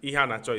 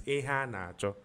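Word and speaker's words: Iheanacho: But for I watch football every time, and Ihan Acho is playing. The correct pronunciation is Ihan Acho. What they are looking for. That's pronounced position. They call it Ihanacho.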